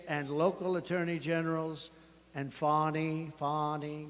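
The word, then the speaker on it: Fani: local attorney generals and fonnie fonnie you know fonnie spelled f a n i my name is fonnie f a ni I I don't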